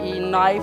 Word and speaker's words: knife: Next जो है आपके पास जो अल्फ़ाबेट रिलेटेड स्पेलिंग है वो हैं KNIFE नाइफ, नाइफ में आप के साइलेंट है उसको नहीं पढ़ते।